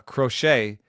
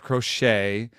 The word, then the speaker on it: Crochet: K or or or with more more of a TCH sort of a sound there in the middle I'm just thinking the